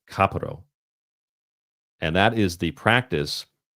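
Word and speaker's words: kapparos: still practice a ritual called kaparo, which I believe is how you correctly pronounce it, kaparo.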